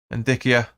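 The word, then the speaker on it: Ndicka: Ndikia. Or Indica, I should say. Indica, I think you pronounce that.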